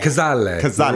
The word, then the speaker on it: Cazale: Cazale.